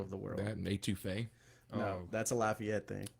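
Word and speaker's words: étouffée: That and etouffee.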